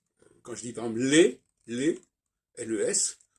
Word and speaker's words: les: Par exemple, je sais pas, quand je dis par exemple les, L-E-S, je ne prononce pas le S.